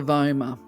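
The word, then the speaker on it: vomer: Now, I don't actually have images of the hyoid bone, or I think it's pronounced the voma here, but they have meanings as well.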